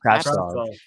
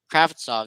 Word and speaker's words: Kravtsov: How do you pronounce his name? Kravtsov. Kravtsov.